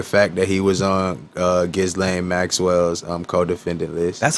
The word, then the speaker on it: Ghislaine: I'm not gonna ignore the fact that he was on Ghislaine Maxwell's co-defendant list.